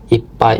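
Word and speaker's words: いっぱい: IPAI itu ee penuh. Nah, ini IPAI itu double P.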